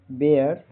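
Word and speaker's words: bear: बी ई ए आर का उच्चारण बेयर बेयर बे अर इ का उच्चारण ए होता है।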